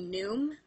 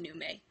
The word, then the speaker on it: Nume: you guys calling me Noom. I really don't care. Whatever you guys feel comfortable with is fine with me. Just know that originally it was supposed to be pronounced Nume.